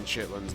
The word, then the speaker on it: chitterlings: shipments out of that chitterlings as it is spelled I still don't know what What's in chitlins by the way like I